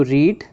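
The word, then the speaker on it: read: रीड रेड रेड रीडिंग spelling second और third form की इसमें सेम है लेकिन प्रोनंसिएशन चेंज हो जाता है। First form रीड second form रेड, third form रेड, fourth form रीडिंग। हालांकि सेकंड और थर्ड की स्पेलिंग रीड जैसी है।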